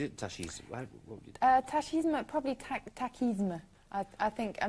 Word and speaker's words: tachisme: I think, I mean, it is, as you can see, it is from the French, so originally it would have been tachisme. But I think you could probably pronounce it either way.